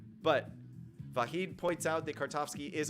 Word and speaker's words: Vahid: V-A-H-I-D. I am assuming that your name is pronounced Vahid. I don't know if it's with the soft H, Vahid, or if it's with a little Vahid, something like that.